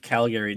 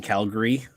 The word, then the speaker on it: Calgary: throughout the two weeks now I noticed your pronunciation of Calgary do you take offense to people's in Calgary no no I just that's how I say it's Calgary my brother who's actually from Calgary was like